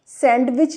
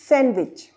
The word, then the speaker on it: sandwich: तो यहाँ पर भी हम डी को काट देंगे, इसे हम सैंडविच नहीं पढ़ेंगे, सैंडविच गलत हो जाएगा, ये सैंडविच रॉन्ग, गलत हो जाएगा। क्या पढ़ेंगे हम इसे, सैंडविच, सैंडविच। अगर आपको मेरा वीडियो पसंद